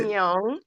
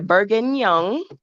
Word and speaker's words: bourguignon: How you say that? Another fun word, Yeah, bourguignon. That's definitely, bourguignon. yeah, bourguignon.